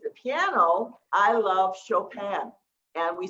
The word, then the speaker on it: Chopin: If it's the piano, I love Chopin, and we spell that C-H-O-P-I-N.